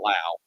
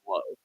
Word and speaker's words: Lowe: One guy says Lau, the other one says Low. Just go with the easy way. It's Low, right? It's Low.